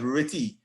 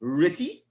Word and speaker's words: RTTY: we are looking at ritty it's rtty which stands for radio telephony pronounced ritty slash data so we just